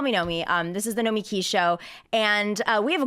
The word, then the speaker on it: Nomiki: Nomiki. Nomiki.